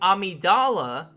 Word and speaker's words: Amidala: of your brain and when I say amidala with the soft G I'm talking about the boss of the game so keep that in